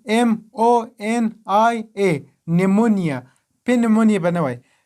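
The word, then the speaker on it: pneumonia: بل مثال ده نیمونیا، دلته له پی نه وروسته ان راغلی او پی نه ده تلفظ شوی، نو موږ نیمونیا وایو، په نیمونیا نه وایو.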